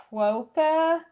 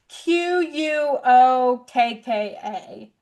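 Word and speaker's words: quokka: It's called a qua.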